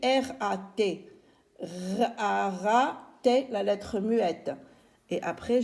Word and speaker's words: rat: Et on a rat, R-A, et la lettre T qui ne se lit pas.